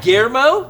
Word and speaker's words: Guillermo: Guillermo?